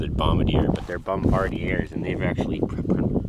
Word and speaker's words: Bombardier: groom Trail violators will be prosecuted snowmobiles and bombadiers only Bombardier everybody pronounces it Bombadier but they're Bombardier and they've actually spelt it correctly on here